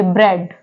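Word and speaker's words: bread: पे वर्ड क्या है ईए है यह जो कॉमिनेशन है ईए का इसमें जो ए है वह क्या है वह साइलेंट है इसको हम क्या पढ़ेंगे ब्रेड ब्रेड ऐसे ही यहां पे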